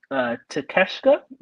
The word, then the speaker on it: Takeshita: We have Takeshita. Am I pronouncing that correctly? Yes, Takeshita.